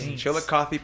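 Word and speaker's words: Chillicothe: I couldn't pronounce it. So, that's why I asked you to say it. Chill. Chilly Paints. Chilikothy Paints.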